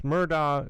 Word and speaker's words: Murdaugh: And it's Murdaugh it's Murdaugh. But it's spelled Murdaugh because he's an idiot.